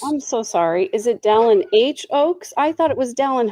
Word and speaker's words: Dallin H. Oaks: I was going to say Dallin H. Oaks, not Dallin Hoax. I said it wrong the first time.